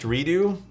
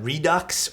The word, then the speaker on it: Redux: it into two pieces it's pronounced redo do you guys pronounce that Redux or redo I've always just like